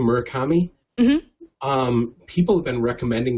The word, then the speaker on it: Murakami: Is that how you pronounce the name, Murakami?